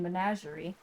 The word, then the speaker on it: menagerie: Oh, I would not have pronounced the G in menagerie.